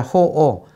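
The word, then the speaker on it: 好惡: 분별하고 분별하자마자 호오 좋다 나쁘다 한다. 좋다 나쁘다를 한자로 간단하게 적으려고 호 오 이거 악자가 악이라고 읽으면 나쁜 것이 되지만 오라고 읽으면 싫어할 오자예요. 그 호 반대말은 오예요.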